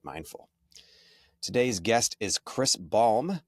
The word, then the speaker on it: Balme: Today's guest is Chris Balm, like lip balm, uh leader, author, and speaker, and founder of Hakuba International School.